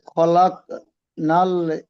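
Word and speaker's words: خلق: খলাক ক ক এই যে একটা ঝাটকা মতো হচ্ছে না, খলক কলকলা করতে হবে।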